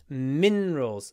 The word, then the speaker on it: minerals: contains some useful minerals minerals stress on the first syllable minerals so stretch the more minerals mineral water